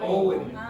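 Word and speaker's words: Eoin: What is the name of the director? Ian? No. Owen. Owen. Oh, no. Spell it. E. No. O. You always get it in the wrong order. You always go E-I-O-N. You understand? E-O-I-N. Okay? Owen. Not.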